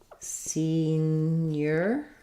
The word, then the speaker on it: senior: also asking about senior so that sounds like senior um think about it like scene your stresses on scene senior versus seniority we change to the stress on the second syllable so in seniority we have seen your ID seniority so senior first syllable stress seniority second syllable stress